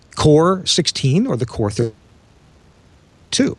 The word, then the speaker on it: QOR: It's connected to this thing that we call the Core, that's spelled QOR because it's cute, Core 16 or the Core 32.